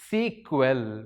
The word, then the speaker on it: SQL: pi skill though we call this sql as sequel we pronounce it as sequel and also we call